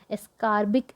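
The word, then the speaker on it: ascorbic: तो देखो, vitamin C कर रहे हैं हम इसको एसोसिएट करेंगे कार से, एस्कॉर्बिक एसिड। थोड़ा सा हमारी प्रोनाउंसिएशन ख़राब हो गई है, एस्कॉर की जगह एस्कार कर लेते हैं, एस्कॉर्बिक एसिड, ठीक है।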